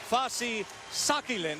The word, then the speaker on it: Fasi Sakilin: Our main event tonight, Fasi Sakilin, that is how he prefers it to be pronounced, from Thailand, making his U.S.